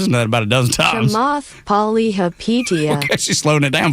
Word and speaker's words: Chamath Palihapitiya: Chamath Palihapitiya. You know what? You said it with confidence. I believe you. Siri, how do you pronounce that man's name? Chamath Palihapitiya. Chamath Palihapitiya.